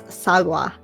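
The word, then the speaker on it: 사과: It's ringo, but in Korean, it's sagwa. Sagwa.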